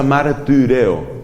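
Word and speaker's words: μαρτυρέω: La Y se pronuncia como la I francesa, que es una combinación entre la I y la U. Por eso se pronuncia martireo. Martireo.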